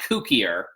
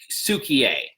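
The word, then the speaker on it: Cukier: It's not Kukier, it's Sukier. So let's not go with the Kukier pronunciation, apt as it may be.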